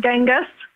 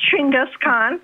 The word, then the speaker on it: Chinggis Khaan: very upset you're saying is actually pronounced Chinggis Khaan good to know Chinggis Khaan United the Mongols and